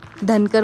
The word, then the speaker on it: Dhankar: Actually इसका नाम है ढंग मोनेस्ट्री बट इसे लोग धनकर मोनेस्ट्री कह के भी प्रोनाउंस करते हैं।